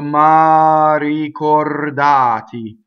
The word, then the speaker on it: ricordati: So the second R rolls because it touches the D. The first R would be flipped because it's surrounded by vowels, except the ma is a strong monosyllable. So you say rricordati. So here we have two rolled R's in this.